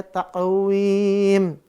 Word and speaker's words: تقويم: Dia mushaf tulisnya kan wimin. Ya, wimin tapi dibacanya jadinya sukun. Karena dia apa? In diwakafkan, maka dia jadi sukun. Maka dibaca taqwim.